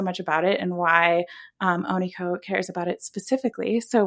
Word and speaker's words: Onikho: Onikho.